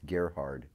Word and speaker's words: Gerhard: cool Ken Gerard is a widely recogniz it's geard G oh dude Phil lied to us yeah the I had one question I pronounce I appreciate that though Gard it makes